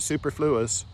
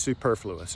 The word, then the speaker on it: superfluous: I pronounced it superfluous all the way through the sermon. Some kind little elderly lady corrected me after it was over and ever since then I remembered it's superfluous and I'm still learning